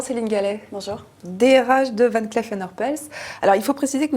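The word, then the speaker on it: Van Cleef & Arpels: joaillerie il s'agit de van cleef and arpels ça se prononce à la française car c'est une entreprise made in france fondé en 1906 ac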